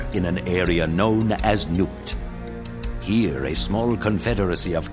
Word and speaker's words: Nubt: think we have now i would never pronounce it as newt i would have called nut but that's just my english way of pronouncing the b okay so our objectives